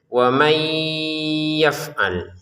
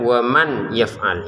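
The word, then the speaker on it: ومن يفعل: Jadi cara bacanya wamay yaf'al. Sekali lagi wam yaf'al. Jadi yang pertama jangan dibaca waman yaf'al. Itu kan bacaan dengan jelas ya.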